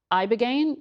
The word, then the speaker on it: ibogaine: Specifically, they were touting this one drug, ibogaine, I believe is how you say it.